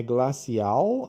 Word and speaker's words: glacial: É glacial ou glacial? Ou guacial? Tem dois L's com sons diferentes.